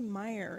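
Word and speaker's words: mire: Meer is an example what is a Meer it rhymes with some sad words like liar and dire and IR the Meer is the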